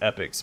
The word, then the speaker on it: epochs: through all EP epochs also seen it pronounced epics but I've always said it epox we know all the